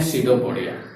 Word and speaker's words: pseudopodia: P silent हो जाता है, इसको पढ़ते हैं सीडोपोडिया।